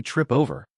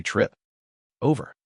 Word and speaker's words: trip over: When I say trip over, I don't say trip over.